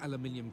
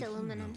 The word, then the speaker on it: aluminum: It was here in 1936 that he deposited the files, sealed aluminium containers that were locked away to be opened in a thousand years. It's pronounced aluminum.